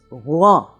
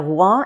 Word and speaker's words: Rouen: number nine and the word this week is Rouen. Now Rouen is the capital of the province of Normandy